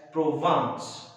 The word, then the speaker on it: Provence: The name of that place is, though it is written as Vence, it's a French place, so it is pronounced as Provence.